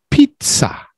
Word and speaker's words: pizza: In Italian, the S's sound like Z's and the Z's sound like TS in Italian.